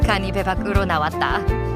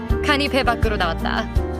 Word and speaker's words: 간이 배 밖으로 나왔다: Before we go any further, let's say it together, slowly, syllable by syllable. Ganibe bakuro nawatta. At normal speed, ganibe bakuro nawatta.